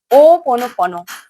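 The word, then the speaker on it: Hoʻoponopono: ओ पोनो पोनो। यह तो प्रोनाउंसिएशन जो है बहुत तरीके से लोग करते हैं। लेकिन इसका सही प्रोनाउंसिएशन है ओ पोनो पोनो।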